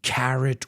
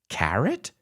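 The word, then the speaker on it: carat: and carrot fan audio they're pronounced the same although they're spelled differently and don't forget after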